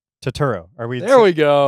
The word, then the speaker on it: Turturro: Oh, is it John Yeah, John Turturro.